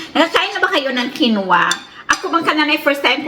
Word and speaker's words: quinoa: Nalilito kasi ako ng linggo at saka kinwa.